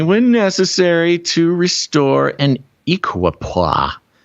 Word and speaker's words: equipoise: necessary to restore an equipoise i don't even know if that's the right way to say it it's equip poise equipoise and then to move to